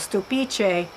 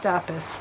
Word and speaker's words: Stupice: And then I have a variety of tomato that I grow year after year called stupice. And most people probably think it's pronounced stupis, but anyway, S-T-U-P-I-C-E.